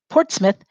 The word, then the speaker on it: Portsmouth: in 1638 started and this is spelled differently than it sounds port i mean sorry port's mouth is the way that it's spelled port's mouth in 1638